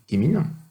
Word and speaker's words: CheMin: gros instruments, SAM et Chemin. C'est écrit chemin, mais se prononce Chemin, parce que ça veut dire Chemistry and Mineralogy, en anglais, qui s'occupent d'analyser la minéralogie